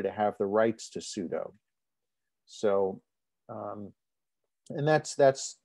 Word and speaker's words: sudo: as su super user so perhaps the proper way to pronounce that would be sudo but people i don't know i i hear pseudo so we're going to